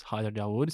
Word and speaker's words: Hayder Dawood: the company cool uh so my name is Hyer daood so we pronounce it well U thank you and I